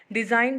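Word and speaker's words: design: ये साइलेंट हो जाएगा डिज़ाइन है दी ए एस आई जी एन तो जी जो है वो साइलेंट हो जाएगा इसी तरह आर आई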